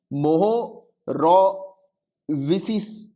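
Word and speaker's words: Mohorovičić: लिखो, MOHO, मोहो, ROVICIC, मोहो रोविसिस, right. अब आप जैसे भी प्रोनाउंस करना चाहो इसको मोहो डिसकंटिन्यूटी जो है वो कहा जाता है।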